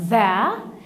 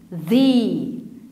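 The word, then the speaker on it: the: هو في نطق جديد في نطق جديد لكلمه ذا انا ننطقها ذا لكن النطق التاني هنط ذ ذ ذي ذي ايه ده طب وانا امتى ننطقها زع وامتى ننطقها ذي ذاع ذي ذا ذي تعال اقوللك هنا عندي الكلمه دي بتبدا بفاول لو جينا نبص عليها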